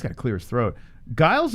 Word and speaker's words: Giles: to clear his throat guiles are giles i thought it was guiles i thought it was giles couple of fights you might not know about like i don't even know how to say their name let's start right here trevin giles versus giles is he sure that's right he says guiles all right let me